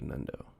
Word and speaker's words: Nundo: title num in number it's pronounced like the num in number but with an n instead of an m like nundo nundo so your name